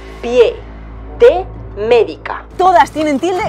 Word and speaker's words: pie: muy mal pensar señora porque pie no lleva tilde Pues porque es una palabra con una sola sílaba pi e yo diferencio